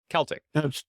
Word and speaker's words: Celtic: It shouldn't be Celtic. It should be Celtic. Celtic. Yeah, everyone in Britain says Celtic all the time, except when they're talking about the football team.